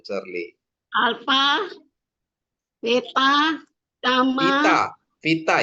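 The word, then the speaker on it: βήτα: Vita ya, bukan beta. Vita.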